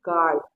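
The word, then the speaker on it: guard: है इसीलिए ये य हो जाएगा इसको पढ़ेंगे गड यहां पर गिल्ड है यहां पर देखिए य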